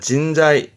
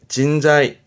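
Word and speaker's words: 人材: 발음은 진자이 진자이 요것도 중요한 부분이 내 고급한테 보입니다.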